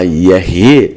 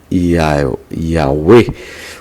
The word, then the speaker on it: Yahweh: e os judeus Yah, e o que é uma alusão a Yahvé de Êxodo 3,14. Fóstil patriarca de Constantinopla, no século IX, atesta igualmente a pronúncia Yahvé ou Yahvé.